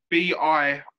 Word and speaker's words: bira: So it's B-I-R-A, bira.